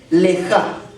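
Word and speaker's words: לְךָ: La palabra que en hebreo se traduce o se pronuncia es lejá.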